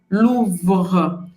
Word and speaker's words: Louvre: Para você fazer esse R, eu recomendo que você pegue um copo d'água e você gargareje. É esse músculo que vai trabalhar na hora de você pronunciar o R francês. Depois você vai gargarejar sem a água e depois você vai trazer para a nossa palavra Louvre.